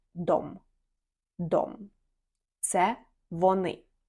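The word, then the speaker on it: de: дом - це вони незважаючи на те що тут в нас дві букви але цей займенник він вимовляється як дом дом це вони і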